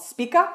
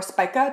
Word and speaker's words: Spica: conjunct a fixed star called spika or spica depending on how you pronounce things and this is one